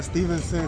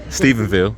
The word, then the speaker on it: Stephenville: Man, we in Stevenson, Texas, man. I think I said it right. You said it close. Stephenville.